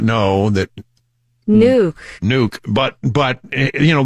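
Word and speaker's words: Nuuk: been practicing uh the pronunciation of the capital of Greenland okay nuke it's nuke nuke nuke who knew that nuke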